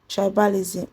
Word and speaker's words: tribalism: Then the stress on imperialism. The stress on imperialism is on P while the stress on tribalism is on C R I.